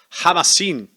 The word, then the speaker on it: Khamasin: llama com el camarín jamás sin es verdad porque esto es una app que acá h se pronuncia ja y ahora me acordaba